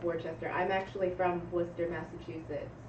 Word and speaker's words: Worcester: Nobody can pronounce that. Worcester. It's Worcester. Okay. It's like there's- Woostah.